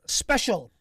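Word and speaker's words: Speshel: the past three years I know how to pronounce it still um special there we go s-p-e-s-h-e-l first special um imagine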